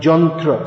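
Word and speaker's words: यन्त्र: The old word was yantra, which becomes pronounced jantra. So you've heard Srila Prabhupada, if you listen to his lectures, jantrarudhani mayaya. Ya becomes ja, but not in all cases.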